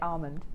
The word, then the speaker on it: almond: do you say I I don't pronounce the L I just say Armond Armond alond Armond Armond